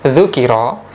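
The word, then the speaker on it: ذُكِرَ: ubah cara bacanya menjadi dzukiro dibaca dhomah huruf yang paling awal yaitu dzal kemudian dibaca kasroh huruf yang kedua yaitu Kaf dan dibaca fathah huruf yang ketiga maka maknanya berubah tidak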